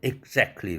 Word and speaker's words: exactly: 이럴 때 exactly right. 원어민들이 참 자주 쓰는 표현이죠. exactly right. 그렇게 발음해야 되는데 여러분들은 가끔 들었을 겁니다.